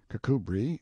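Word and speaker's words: Kirkcudbright: style being The Honorable Kirk cbright lover marjerie Banks sellers vicount Berkeley of chundy Castle Warwickshire pronounced kbri Slover Marshbank sellers vicount Barkley of chumbley Castle workshire he is standing by a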